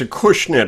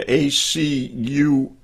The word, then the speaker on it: Acushnet: Yeah, you might want to Google, it's a Cushnet, I'll spell it for you, ACUSHNET, a Cushnet, Massachusetts manufactured home or something.